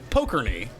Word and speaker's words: Pokorny: o k oor now in Chicago it might be pronounced uh pokery PO pokery is the other pronunciation but yeah you can